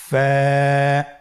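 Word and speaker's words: ف: ওয়া হামজা ইয়া হরফটি আপনারা স্ক্রিনে দেখতে পাচ্ছেন ফা হরফটি উচ্চারণের ক্ষেত্রে বারিক হবে এবং এক আলিফ টেনে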